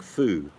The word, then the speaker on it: pho: The pronunciation is pho, like off a cat's back, pho.